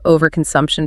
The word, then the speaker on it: overconsumption: master the pronunciation of overconsumption because it has five syllables and getting the stress right is key to sounding fluent. Good idea. The stress falls hard on the sum syllable.